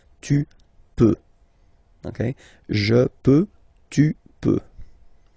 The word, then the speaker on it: peux: Okay, then tu peux. Same pronunciation and same spelling or writing. Okay, P-E-U-X. Okay, don't pronounce the final X. Tu peux.